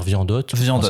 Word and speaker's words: Wyandotte: Wyandotte. Alors en français on va dire Viandotte. Voilà. Ok. Mais effectivement il y a différentes. Alors effectivement c'est américain, donc ça se prononce effectivement de différentes manières.